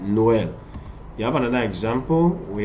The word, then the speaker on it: Noël: Look at the example, Noël. We pronounce the O different, but the E different. Noël.